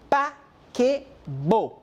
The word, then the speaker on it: paquebot: La T al final no se pronuncia. Le paquebot.